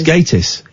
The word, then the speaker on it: Gatiss: say his name right Mark gatis is it gatis or gtis it's gatis you sure I know